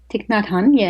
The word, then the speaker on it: Thich Nhat Hanh: When I read the Miracle of Mindfulness, written by is it correct my pronunciation? Thich Nhat Hanh? Thich Nhat Hanh, Thank you.